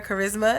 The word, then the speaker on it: Carisma: And my name is Carisma, and it's spelled CIERRACARISMA. So like charisma, but like no H.